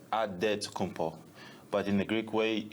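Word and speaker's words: Antetokounmpo: helps set the record straight of how you pronounce it in a good way you got a say with a D so it's odd dead to compo but in the Greek way you say with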